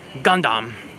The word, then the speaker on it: Gundam: For those who like Gundam, I say it like that because I've been corrected and corrected again many times on how to pronounce it.